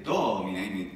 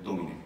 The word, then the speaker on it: domine: diciamo sempre domine in Italia, ma invece domine. Domine.